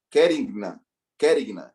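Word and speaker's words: querigma: E a terceira palavra, kiregina. Acho que a pronúncia é essa. Kerigna, isso mesmo.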